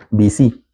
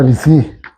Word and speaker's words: Bici: Actitud Bici, con acento en la I. El el el sí, eh Bici. Ah, Bici. Es es un juego palabras entre Bici y sí, la sí es por ser positivo.